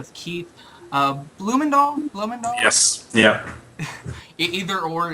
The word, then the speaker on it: Bloemendaal: Well, my name's Keith Bloemendaal, as Mike said. It's a Dutch name. I didn't ask for it. It's spelled weird, but that's my name.